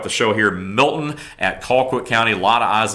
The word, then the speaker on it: Colquitt: It's like, this is Motown, and it's not Colquitt. It's spelled that way, but it is Colquitt. It's basically C-A-L.